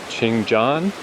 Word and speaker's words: Cheonjeyeon: But the bus voice said something more along the lines of like Ching is how they pronounce the Chian and then the Jon is like similar to Jet Chan. So that makes sense that that would be a Chan.